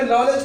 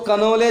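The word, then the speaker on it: knowledge: लिखा हुआ है नॉलेज अब यहां पे नॉलेज को तुम कॉलेज पढ़ सकते हो लेकिन गलत हो जाएगा क्योंकि ये साइलेंट है एन से पहले के है इसको कनोले नहीं पढ़ोगे इसको क्या पढ़ोगे नॉलेज क्योंकि बोलता नहीं है तुम्हारे अंदर नॉलेज नहीं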